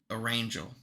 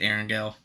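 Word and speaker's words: Erangel: which is Aaron and he mixed it with the word Angel so or Angel it's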